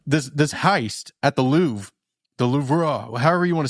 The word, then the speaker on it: Louvre: The Louv. It is spelled like Lou. But Lou I think is the right way to say it as an American.